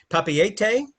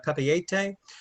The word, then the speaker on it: Papeete: And just a little bit when you see Papeete, it's a mix of French and Tahitian. Basically, virtually every vowel and letter is pronounced.